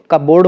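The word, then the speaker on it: cupboard: in raspberry and कपबोर्ड तो फिर इसके हिसाब से अगर देखें तो फिर पी ही साइलेंट हो रहा है क्योंकि इस वाले में तो रसबेरी कहा जाता है तो कबर्ड हो जाता है कबर्ड तो यहां प नहीं निकल रहा है तो यहां पर पी जो है साइलेंट हो जाएगा व्हाट इज द फेमिनिन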